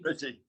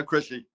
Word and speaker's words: Crisci: Petitioner is again, Michael Dunn Architect for Paulina Crisci. Did I pronounce that properly, Michael? Yes, Is it Crisci or Crisci? Chrissy. Yeah, Chrissy.